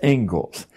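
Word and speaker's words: Inglis: and education is named as it is the Engles lecture looks like English but it's pronounced Engles and I would like to read you the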